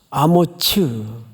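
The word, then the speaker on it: 아모츠: 밑에 분노트를 한번 보세요 히브리 말로 뭐라고 발음하도록 되어 있죠 아무츠 아머츠 원래 이렇게 번역이 됐어야 맞았습니다 근데 이게 외래 오다 보니까 우리 개혁개적 여러분들이 지금 보고 있는이 성경은 아모스로 번역을 해버렸어요 그래서 어느 사람과 혼동을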